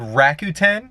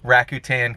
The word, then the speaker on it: Rakuten: ado let's get started number one it's called rakuten if i'm pronouncing that correctly it's r a k u